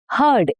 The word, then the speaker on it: heard: It becomes heard. H u r d sound. The sound is of uh r. It rhymes with bird or turd.